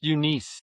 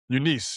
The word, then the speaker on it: Eunice: And her name was Eunice, Eunice, I think, Rivers. All right. She was a black, Eunice. huh? It's pronounced Eunice. Eunice.